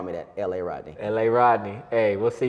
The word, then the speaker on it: La'Rodney: not Lil Rodney, as Mr. Mike likes to say. It's Lil Rodney. La, L-A. L.A. Rodney. I actually used to have people call me that, L.A. Rodney.